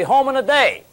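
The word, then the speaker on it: Hominidae: home in a day now i've got a good way to pronounce that if your mom calls you and says where are you you just say mom look don't worry i'll be home in a day hang up genus homo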